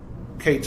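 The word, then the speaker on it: קץ: is a cutff point kates actually sounds like the word cut in English it's a kates it's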